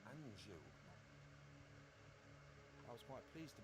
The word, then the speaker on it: Anjou: Margaret, it sounds like Margaret Anjou. Anjou.